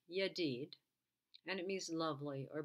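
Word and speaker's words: ידיד: the c is now if you double the syllable and you have yad twice there it's pronounced yadid and it means lovely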